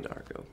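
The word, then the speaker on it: D'Arco: Rola and Joe diarco Darko Darko like Donnie Darko but not spelled the same uh joined Godsmack as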